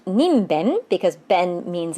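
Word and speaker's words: にんべん: It's It's pronounced ninben because ben means it's on the left side of the kanji, and that also means person.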